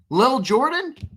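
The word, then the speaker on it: Lil'Jordan: Liil li How do you pron How do you pronounce that? Lil Jordan.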